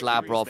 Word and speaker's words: Labrov: As I understand it, it's Labrov, and again, I go by Law's pronunciation on it because he's from the French scene, and they go Labrov.